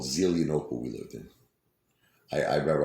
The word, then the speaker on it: Zelienople: There's a place called Zelienople we lived in. I remember I was pronouncing it Zelia Nipple.